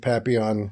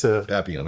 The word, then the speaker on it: Papillon: Yeah, the emphasis on papi, but okay. Papillon works. Papillon, okay, yeah.